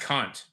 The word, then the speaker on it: Kant: Who's Kant? It's pronounced cunt.